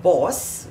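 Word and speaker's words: Bawse: with a bright lipstick this is called Boss by Smashbox though it's spelled b-a-w-s-e boss let's see how this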